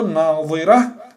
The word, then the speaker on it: ناظره: این بین ضاد و بین دا هست، زبان رو به کامی بالا چسبانده بعد تلفظ کرده میشه ضاد. اما ضا زبان رو به یک کنج دندانی بالا رسانیده تلفظ کرده میشد.